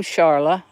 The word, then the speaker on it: Charla: came to my live how do I pronounce my name Sharla Sharla I was named after my daddy Charles mom just took the es off and added an a and then my middle